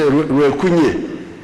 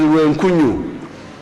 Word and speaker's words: Ruenkunyu: Mpiji, Kanuni, Kabrasoke, Ruero, these are the new ones, like Ruero, Tarangwa, Muyembe na Kapiripirit, Ruenkunyu, which my people in the north cannot pronounce. They say Ruenkunye. It is Ruenkunyu.